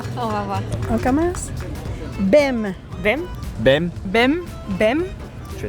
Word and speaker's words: bem: Quem não sabe português olha para esta palavra e, logicamente, acha que o S lê E e o M, M. Bem. Mas claro que não é assim tão simples, porque em português o M no final das palavras nunca faz o som M, em vez disso faz um som nasal.